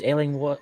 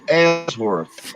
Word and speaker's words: Ellsworth: a special guest, Ellingworth. Did I pronounce that right? did I butcher your name like I butcher everybody else's name? It's all right. Ellsworth. Ellsworth.